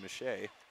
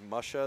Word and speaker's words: Mache: Carruthers bulldozes Kaden mache Kayson mache like paper mache at that point that's how the name pronunciation was explained to me Oh beautiful well sometimes